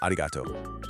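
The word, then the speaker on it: arigatō: And then, something really common in Japanese phonetics happened. That hard ku sound at the end just softened. It became a vowel, an o sound, and poof, arigataku becomes arigato.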